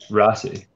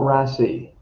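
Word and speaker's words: Raasay: its little island okay is the little island rassi it's not rasi i know yeah i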